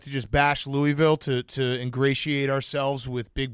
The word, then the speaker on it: Louisville: come down here and pronounce it Louisville, and just to kind of stab you and say, hey, it's Louisville.